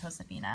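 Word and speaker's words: Josefina: Elizabeth Caroline J Josephina wow I know it's pronounced Josephina I don't know why I it Josephina I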